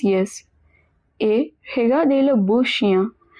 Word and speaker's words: chien: Et regardez le beau chien. Do you remember I-E-N is pronounced as ia, as we saw in bien. So chien, it means dog.